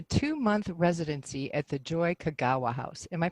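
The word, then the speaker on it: Kogawa: participated in a two-month residency at the joy Kagawa house am I pronouncing that properly yeah okay and that was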